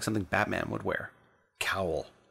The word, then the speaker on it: Kowal: Kowal. It's like towel, but cooler.